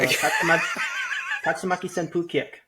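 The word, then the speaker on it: Tatsumaki Senpūkyaku: The U at the end is silent. So Tatsumaki Senpu Kyaku.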